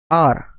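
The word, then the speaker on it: hour: आवर का pronunciation आवर नहीं होता है, ठीक है। आवर का प्रोनाउंसिएशन होता है क्या? आर, आर, ठीक।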